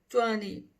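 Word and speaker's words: twenty: tava junto a sony sony sony sony vende em inglês que eu já tinha explicado em outros vídeos vai ficar toni toni toni então eu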